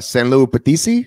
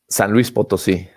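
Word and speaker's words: San Luis Potosí: 2019 held at a nascar racetrack in uh san luis obisi how do you say it san luis potosi san luis potosi mexico uh what do you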